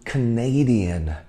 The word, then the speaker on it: Canadian: 大家重音在第二个音节，我们要读 Canadian，好不好？Canadian。What is your PR for bench teacher?